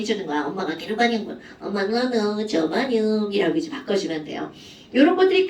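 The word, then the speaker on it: germanium: 그럼 옛날에 이제 콩글리시로는 뭐라고 했냐면 게르마늄 이렇게 불렀어요. 어디선가 아마 들어본 적 있을걸요? 그런데 얘네들은 영어로 이제 읽으면 저마늄이라고 읽어주죠.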